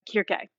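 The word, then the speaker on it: Κίρκη: But the original Greek is Kirke. So it's the hard C sound.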